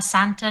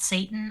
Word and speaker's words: Santa: Also, Chucky, it's pronounced Santa, not Satan.